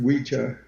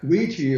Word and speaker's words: Ouija: or ouija okay so the word is pronounced witcha richa but ouija is also acceptable you can call it